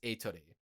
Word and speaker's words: Atri: What they instead find is this robot named Atri, or Atri, but the Japanese pronunciation is Atri.